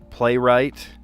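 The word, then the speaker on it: playwright: There's a silent W in a couple of these. Playright, sword, rap, and wreath. Those are silent W's.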